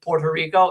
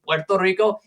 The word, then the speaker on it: Puerto Rico: The reason why you say why why Americans say Puerto Rico instead of the proper pronunciation Puerto Rico is because they actually changed the spelling to